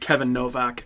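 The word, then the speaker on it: Kayvan Novak: it's spelled Kayvon, Kayvon but Novak? I believe it's supposed to be pronounced Kevin Novak.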